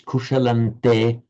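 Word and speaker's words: कुशलं ते: So written with the anuswaras, the subdotted m, but pronounced as a n because of the following te. So you write kushalam anuswara te, but you pronounce kushalante because the following te.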